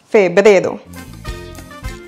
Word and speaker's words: febrero: Et pour le prononcer comme un locuteur natif, n'oubliez pas d'accentuer sur le deuxième E. Febrero. Febrero. Et maintenant, un exemple. En febrero cumpleaños mi mamá.